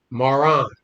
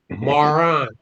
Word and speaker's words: Maran: Maran. That's how I pronounce it. Maran.